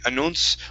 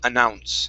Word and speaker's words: announce: Uh because there there are some places in England they would say announce or announcement. Okay. They would close that vowel. We say announce.